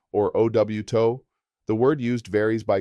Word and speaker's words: auto: Car is coche or auto, pronounced koh-che or ow-to.